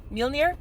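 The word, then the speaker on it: Mjölnir: damn it i know how to say it mjolnir there we go mjolnir i've got a millionaire bracelet um so like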